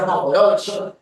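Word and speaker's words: Mohorovičić: Ya, se escribe así, se pronuncia monoforobici.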